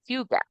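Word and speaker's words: hygge: Okay, and but it's pronounced huga.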